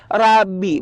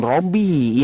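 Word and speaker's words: رَبِّي: kosakata Rabbi itu boleh ya, Rabbi bukan Robby ya.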